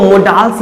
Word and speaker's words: modals: देखिए मैंने लिखा मॉडल्स, इसको मोडाल्स मत पढ़ लीजिएगा। मोडाल्स प्रोनाउंसिएशन नहीं होता और प्रोनाउंसिएशन क्या होता है? मॉडल्स, मॉडल्स।